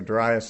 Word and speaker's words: Darius: I say that it can be pronounced either Darius or Darius. I sort of switch back and forth.